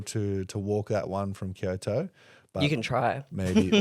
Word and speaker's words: Kyoto: You're not going to be able to walk that one from Kyoto. But You can try. maybe, or I should say, let's get our pronunciations right. Kyoto.